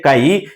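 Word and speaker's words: χ: called mole fraction this how to pronunciate kai This is pronuncious as a kai.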